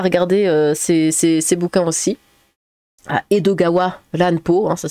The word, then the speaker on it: Edogawa Ranpo: Et si vous le dites vite, ça te fait Edogawa Ranpo. Edgar Allan Poe. Bah, n'hésitez pas à regarder ces bouquins aussi. Edogawa Ranpo, hein, ça s'écrit comme ça.